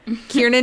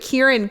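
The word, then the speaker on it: Kiernan: say her name anymore kierin shipka very easy but Kieran Ken it's like one letter difference it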